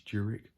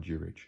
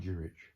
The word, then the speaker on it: Jurich: pronounce his name correctly i've been saying this juric thinking that that's actually how you pronounce his name but in one of his videos i've heard him say ivan jurich so let me pronounce it properly ivan jurich he has